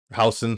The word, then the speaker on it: Huijsen: Housen. Sorry, I say Huijsen. Housen. I say I pronounce it the American way.